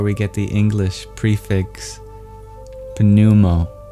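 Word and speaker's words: pneumo: Prana is actually where we get the English prefix panumo although we stopped pronouncing the P.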